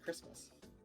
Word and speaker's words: Christmas: ho ho oh also no one pronounces the t in in what it's just christmas oh you're like hard